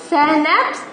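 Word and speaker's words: schnapps: ये देखो शहनैप्स, ये देखो प्रोनाउंस शहनैप्स, ये एक तरह का ड्रिंक है।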